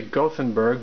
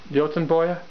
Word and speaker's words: Göteborg: here with her telescope downtown Americans would say gothenberg but how do you say it in Swedish dear um yon Boya yolon Boya yolon Boya okay I'll take you with your